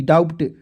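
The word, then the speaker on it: doubt: अब कहिए सर जी डी ओ यू बी टी डाउट डाउट बहुत लोग पढ़ लेते हैं लेकिन डाउट होता है दोस्तों बी इसमें अब साइलेंट रहता है अब आइए इसको समझाते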